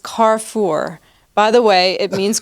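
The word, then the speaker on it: Carrefour: you pronounce that I always have called it KFOR is pronounced carfor by the way it means Crossroads in French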